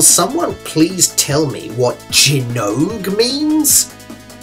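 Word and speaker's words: Gaiares: the last 20 years I've been calling this game gyo only to find out just a few days ago when preparing this video that it's pronounced jog if the Japanese title is anything to go by and it usually is huh well this is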